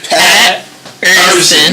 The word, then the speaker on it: Pat Urson: It's like Pat's his first name, and Urson's his last name. Pat Urson. You see that drag in between? That's like that line. It's like Urson, baby. You gotta be able to pronounce it.